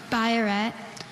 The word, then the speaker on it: biuret: Biuret. Are there any alternate pronunciations?